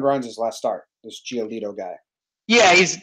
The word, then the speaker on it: Giolito: How do you pronounce this guy's name? Giolito.